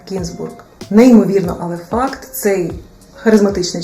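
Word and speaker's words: Гінзбург: познайомилася на французькій манер його прізвище вимовляється з наголосом на останній склад та й взагалі Серж змінив деякі літери у своєму прізвищі для того щоб саме французи могли його вимовити в оригіналі його прізвище взагалі то має єврейське походження і звучить як кінбург неймовірно але факт цей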